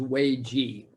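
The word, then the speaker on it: 危机: It's pronounced differently, obviously, but in Chinese, the word is wei ji.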